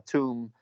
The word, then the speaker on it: tomb: that he built himself so a tomb to omb the b is silent so that's a you